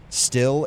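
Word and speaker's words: Stihl: It's pronounced steel.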